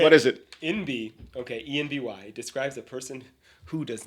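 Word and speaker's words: enby: Envy is the phonetic pronunciation of envy, which stands for non-binary.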